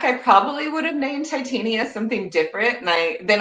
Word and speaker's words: Titania: Um, you know, going back, I probably would have named Titania something different. And I then I I realized that it's pronounced to Tanya in like Midsummer Night's Dream.